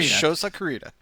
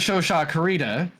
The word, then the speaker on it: Shosa Kurita: Just say Shosa Kurita. As Shosha Kurita, no.